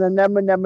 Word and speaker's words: anemone: us out and uh tell us all the pronunciation there we'll roman i'll give it a go this is an anemonem anemone it's an enemy and it's an enemy